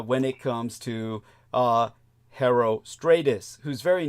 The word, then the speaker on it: Herostratus: it comes to uh herostratus whose very name is spelled like hero h e r o but in the ancient Greek you don't pronounce the h uh it's Aero Stratus uh but Stratus almost